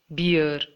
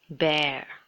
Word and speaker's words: bear: How many of you say it like beer? It should be bear. Bear. Just like B-A-R-E, how would you pronounce B-A-R-E?